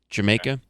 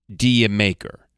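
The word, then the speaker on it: D'yer Mak'er: Did you make her? Jamaica. That's the joke. Very British, I suppose. Now the title is often mispronounced by FM disc jockeyies if that still exists as Dia Maker. Uh it is not necessarily that though even I fall into that trap myself sometimes.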